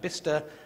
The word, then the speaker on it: Bicester: In England, we're very strange, so that Bicester becomes Bister, and Cirencester has its own